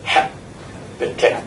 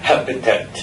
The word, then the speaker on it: habitat: Normally we stress the first syllable, habitat. Yeah, habitat.